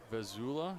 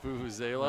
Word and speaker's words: vuvuzela: I have to warn you, I see a Vazula. Is that how it's pronounced? Vuvuzela? Vuvuzela of course.